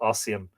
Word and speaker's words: Ossian: Oh, he's pronounced it the other way, Ossian.